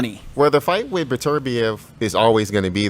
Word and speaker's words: Beterbiev: How do you pronounce it? Beterbiev. I thought it was Beterbiev.